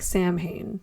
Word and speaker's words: Samhain: Its roots go back to the Celtic festival of Samhain. It looks like Samhain, but it's pronounced Samhain.